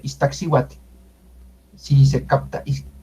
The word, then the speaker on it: Iztaccíhuatl: Iztaccíhuatl. Ahí se nota más ese tl. Es suave. Iztaccíhuatl. Sí, se capta. Iztaccíhuatl.